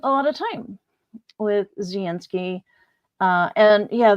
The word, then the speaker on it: Zelensky: lot of time with Zelensky. And yeah, the narrator did pronounce it, the L is more of a Y sound.